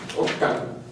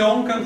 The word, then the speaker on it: ocan: Ocan. Ajá. ¿De qué se forma Ocan? De Ome. Ome más. Can. Can. ¿Y por qué no se dice Oncan, sino Ocan?